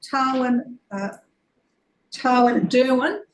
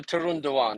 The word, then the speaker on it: Tarun Dewan: With the seconder, Councillor Tarwin Derwin. Is that how it's pronounced, Councillor? Yeah, Councillor Tarun Dewan. Yeah, that's correct.